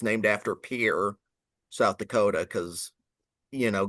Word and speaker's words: Pierre: Taffonomy from the Sharon Springs member of the Pier Shale Formation, South Dakota, and to clarify, Pier Shale is spelled Pierre, you know, like the French name, but it's named after Pier South Dakota, cuz you know, God forbid we